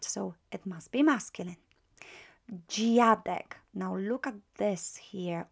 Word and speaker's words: dziadek: We've got DZI is pronounced as G. Not Z, but G. G, right? G. You will learn the sound when we start on greetings. You will say dzień dobry, G. So it's DZI, G.